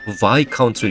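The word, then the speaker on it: Viscount: 카운트가 아니고 y 카운트에 s 음이고 여기서는 그래서 y 카운트로 읽어야 합니다 많이들 틀리는 발음인데 좀 조심해야 돼요 그래서게 작 그다음에 숫자도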